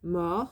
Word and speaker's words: mords: C'est la dernière fois que, that's the conjunction that, okay, je mords, that I eat. So it's got an S at the end, it's got a D and an S actually, but actually it